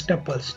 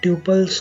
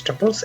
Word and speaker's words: tuple: and it's pronounced as tuples not tuples not anything else tuples like how you pronounce couple but with the t okay so to define